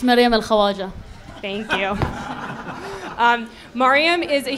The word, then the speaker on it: Maryam al-Khawaja: can you say her name for us it's maryam al-khawaja thank you Miriam is a human rights defender